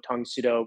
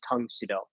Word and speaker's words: Tang Soo Do: The first type of training that any Mudaquan stylist engages in is Tang Sudo, which is the Korean pronunciation of Karate Do.